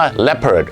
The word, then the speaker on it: leopard: สะกด มัน จะ รอ คุณ อยู่ อ๋อ เหรอ leopard เพจ ครับ เสือ ดาว ต้อง ออก เสียง ว่า และ เปิด วัน นี้ คุณ เล็บ ขบ คุณ เตะ โต๊ะ